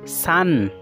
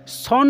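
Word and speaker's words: son: পত্ন সান। সান মানে পুত্র পুত্র বন্ধু সকল এই শব্দটু আপনার দেখা পাইছে না হয় যে এস ও এন এই এই শব্দটা কিন্তু বহুতে সন বলি প্রোনাউন্স করে বহুতে সন বলি উচ্চারণ করে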